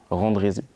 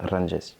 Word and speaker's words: Randjess: montage bien en fait c'est mon nom de famille Randy si je devais le prononcer en français mais bien prononcé au malgache ma langue natale c'est rangé une énorme expérience musicale